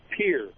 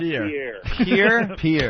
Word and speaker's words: Pierre: Yeah, you guys pronounce that wrong. It's Pierre, not Pierre. Pierre, South Dakota.